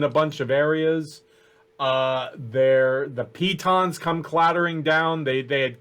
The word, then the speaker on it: piton: Pittons? What are they Pitons. called? Piton. Oh, Pitons. yes. I You always know what?